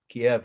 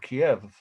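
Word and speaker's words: Kyiv: russia or ukraine actually kiev kiev is how everyone i've heard pronounce it and i have friends from there i've been together twice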